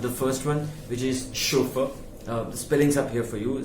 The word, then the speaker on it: chauffeur: is a chauffeur uh it doesn't begin with the sh it is with the ch the origin again is in the french language uh where the word